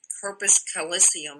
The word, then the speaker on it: corpus callosum: Because the more we do that, neurologically speaking, there's a nerve, corpus callosum or something called in our brain.